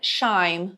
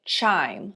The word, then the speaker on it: chime: A gente tem C com cold, depois tem s cell, porque é uma dica legal de pronúncia aí pr você prestar atenção. Então não é shime, vai ser chim reflecting on my life and have much time.